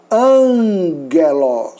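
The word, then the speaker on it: ἄγγελος: Aqui, o primeiro gama terá o som de nu, ou o som do nosso N. Então, você vai pronunciar angelos.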